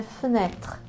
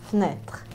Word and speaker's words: fenêtre: com a palavra janela, que em francês é fenêtre, fenêtre, fenêtre. Fenêtre se escreve com um acento circunflexo no segundo E.